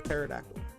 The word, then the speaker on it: Pterodactyl: Yeah, that Silent P for Pterodactyl.